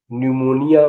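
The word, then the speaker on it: pneumonia: एम ओ एन आई निमोनिया माने फेफड़ों की सूजन आपने देखा कि इन शब्दों के प्रथम अक्षर का शब्द में उच्चारण नहीं है अब इन शब्दों का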